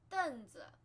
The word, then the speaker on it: 凳子: 凳子 stool, 凳子凳子 fourth tone, 凳凳凳子凳子 And then this is